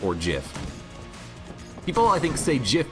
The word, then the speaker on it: GIF: pronounce it whether it's gif or Jif people I think's a jiff because they're used to you know the peanut butter but I'm pretty sure gif is is the technical correct one what do